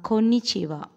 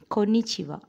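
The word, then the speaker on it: こんにちは: japanese um and co nih chi wa8 is pronounced as konnichiwa konnichiwa hello new orleans then last one france kunichiwa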